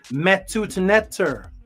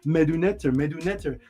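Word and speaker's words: Medu Neter: People say it like as if it's just a D. They say medunetter, like it's just a D sound. It's metut netter. It's a soft T, which is also a D, which T and D is the exact same.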